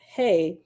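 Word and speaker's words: ה: okay oh that second letter is hey pronounced hey and symbolizes the Divine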